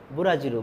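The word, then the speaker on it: ブラジル: এরপরে বুরাজিরু। বুরাজিরু বলতে ব্রাজিল। আমরা ফুটবলের দেশ ব্রাজিলকে সবাই চিনি। তো এই ব্রাজিলকে জাপানিজ উচ্চারণে বুরাজির উচ্চারণ করা হয়ে থাকে।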